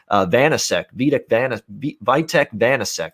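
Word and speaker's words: Vítek Vaněček: by the Washington Capitals, or it looks like Vitek Vanasek.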